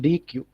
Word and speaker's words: dequeue: Okay, this is pronounced DQ.